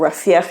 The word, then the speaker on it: Rafah: Israel has heard a lot of international criticism for the operation in Rafah, or Rafah as it is pronounced, many opining that it will create a horrendous humanitarian disaster.